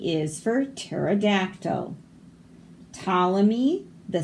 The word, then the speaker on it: Ptolemy: Ptolemy, the psychic pterodactyl, struggles with psoriasis. So all of these P's are silent. We don't say them. Ptolemy.